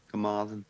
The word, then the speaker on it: Carmarthen: I don't know how to pronounce it. Carmathian? Never heard of it. Let me see here. I'll post it. Carmarthen? Carmarthen, yeah.